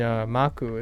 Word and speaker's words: Maku: And Maku is the same way. Ma is very round and soft, and Ku is sharp, or Ku. Maku, or, you know, Maku.